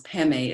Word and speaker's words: padme: padmi mani is jewel padme sometimes the print tibetans pronounce pemei is lotus lotus and